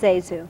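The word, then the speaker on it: ZaSu: It was Zesu. Yes. Yes, she not played, Zazu. It's Zesu. Zesu. Because she was named after two maiden aunts. It was very important that it be pronounced Zesu.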